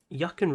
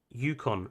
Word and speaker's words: Yukon: we we can manage actually yuccan river yukon sorry yukon it's not pronounced yuccan sorry yukon river um